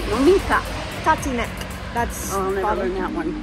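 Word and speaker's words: Tatínek: Tatinek. I'll never learn that one. I'll never learn that one. Like, taught to neck.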